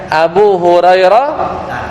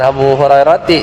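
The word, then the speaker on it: أبو هريرة: Sama kayak Abu Hurairah ta, bukan Abu Hurairati ya. Karena Hurairah masuk isim alladzi la yansharif.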